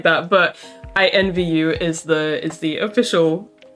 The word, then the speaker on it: INVU: to check out the mood sampler for taeyeon's invu which i just learnt is how that's pronounced i've just been reading it as in